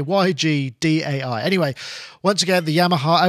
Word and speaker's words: YGDAI: I think it's called IGDAI. That's how you say it. But I'm going to say YGDAI.